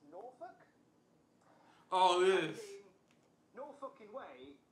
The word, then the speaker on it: Norfolk: Norfolk. The R is silent. There you go. Better. Norfolk. Did he say Tristan? Justin Roberts, it's actually pronounced Norfolk.